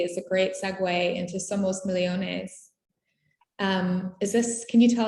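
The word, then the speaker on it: Somos Millones: i did it wrong somos michonnes well that's my argentinian accent but you say it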